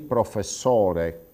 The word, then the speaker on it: professore: Sentite la differenza: il signore con la O aperta, i signori con la O chiusa, il professore con la O aperta, i professori con la O chiusa e così via.